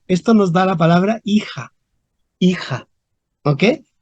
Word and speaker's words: hija: con h pero ojo en español moderno no pronunciamos la H porque filia en español